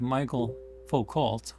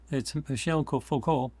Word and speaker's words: Michel Foucault: Now, Michel Foucault, and the way it's spelled in English, it's like Michael Foucault, but it's Michel Foucault in French, showed how institutions use the definition of sanity and truth to delegitimize dissent.